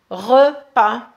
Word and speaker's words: repas: on le prononce que repas repas bien sûr le S on le prononce pas et là vous terminez